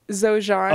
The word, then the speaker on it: Xojian: Xojian. Okay. Oh, Xojian. With a Z. With the Z. The Z sound.